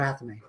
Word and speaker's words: athame: Ron, can you pass me the Atham? Am I saying that right, Atham? Okay. Or Athame. Yeah, I've heard it pronounced Athame.